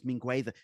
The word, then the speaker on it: Mingueza: Otherwise, you've got Mingueza or so So it's Mingueza.